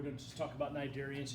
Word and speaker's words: cnidarian: All right, so Cnidarians, that's pronounced with the C there, okay?